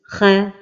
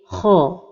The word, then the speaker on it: خ: L'erreur de prononciation de la lettre kha lorsqu'elle porte la voyelle fatha est de l'amincir comme ceci, kha, et la prononciation correcte est kha.